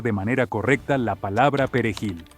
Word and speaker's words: perejil: manera correcta la palabra perejil debido al idioma le resulta difícil pronunciar correctamente la letra r y sobre todo si esta se encuentra en medio de una palabra muchos Pueden decir pel jilo y otros Pueden decir